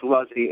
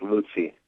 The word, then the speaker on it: Luzzi: What is the most common? Luzy. Is it Luzy? Luzy. Well, in in American it's Luzy. In Italian it's Lucy.